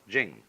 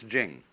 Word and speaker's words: Ching: There is no apostrophe after the c h, so if there were, it would be pronounced ching, but it's jing, like a j.